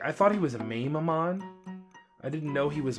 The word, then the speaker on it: Mamemon: And I was like, oh, okay, Metal Mamemon, gotcha, that's how you say it.